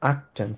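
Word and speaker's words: achtzehn: হওয়ার কথা ছিল, কিন্তু যেহেতু এখানে দুইটা টি হয়ে যায়, ওই জন্য তারা একটা টি উচ্চারণ করে, আক্টেন সিম্পলি।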